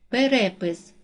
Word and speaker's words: перепис: падає на тре склад перепис наголос падає на другий склад випадок наголос падає на